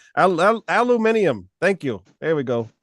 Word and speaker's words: Aluminium: I've had a hard time pronouncing that name. Aluminium.